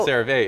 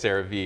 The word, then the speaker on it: CeraVe: It's not CeraVe, it's CeraVe. Oh, CeraVe. You said it correctly, I think. But they're often mispronounced, they're often compared to each other.